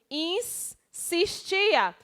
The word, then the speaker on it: insistia: Quando eu pronuncio insistia, é como se na palavra tivesse os 2 S.